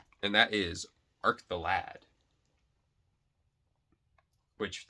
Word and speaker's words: Arc the Lad: arc the lad which they kept pronouncing it arc the lod i'm pretty sure it's lad right like a old lad young lad i don't know that's how i've always thought it was pronounced but there's that one